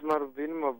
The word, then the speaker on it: Marubini: marubini are you there yeah I'm here how are you I'm okay am I pronouncing your name properly it's marubini boy marubini I'm must say quickly